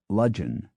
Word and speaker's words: Ludgvan: ludgvan is Ludgeon.